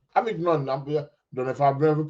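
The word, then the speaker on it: Avignon: Avidnon. Avidnon. Don't know if I'm pronouncing that right. Aid. Aid. Avidnon. Avidn. It's a silent G, isn't it?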